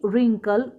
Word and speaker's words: wrinkle: When we read W in column 3 it has no sound। जब हमने wrinkle, wriggle, write को पढ़ा